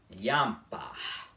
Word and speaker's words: lhampar: E a pronúncia dessa palavra também não é lhampar, com esse I mais demorado, e sim lhampar. O I é mais rápido, tá?